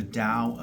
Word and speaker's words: Tao: Number one, it is pronounced with a D but spelled with a T.